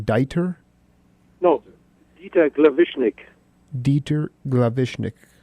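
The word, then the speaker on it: Glawischnig: Dieter Glavishnik. And the W is just like a V pronounced, and you'll be okay.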